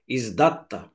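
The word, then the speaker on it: ازددتَ: দুইটি থাকলে তখন আর এই দাল লেখাই থাকবে কিন্তু এটা উচ্চারণে আসবে না এই কালো রঙের অর্থাৎ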